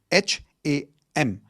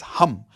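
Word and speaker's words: हं: The 5th chakra is your throat chakra, which is sound of hum, H-A-M. It's not ham, okay? It's hum. Like how you would say H-U-M, that's the pronunciation, hum.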